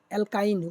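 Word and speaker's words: alkyne: ये एल्केन जहाँ पे भी आप लोग जब भी इसको पढ़ेंगे आपको लोग को प्रोनाउंसिएशन ऐसे आएगा, एल्केन, एक में आएगा एल्केन ANE, एक में आएगा एल्कीन ENE, और एक में आएगा एल्काइन YNE, ठीक है।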